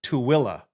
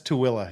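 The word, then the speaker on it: Tooele: ever pronounce it correctly that is pronounced tooilla to Willow yeah that's too Willa yeah everyone all right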